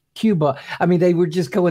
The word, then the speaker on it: Qobuz: And the other guy's going, "No, it's Qobuz." And the other guy's going, "Oh, well, no, it's Cuba."